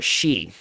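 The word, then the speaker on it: 四: So for example, in Japan, the number 4 is often avoided because it's pronounced similarly to the word for death. Both are she.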